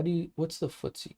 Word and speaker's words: FTSE: about 13 um how do you what's the footsie called how do you spell it what's the english uh market trigger for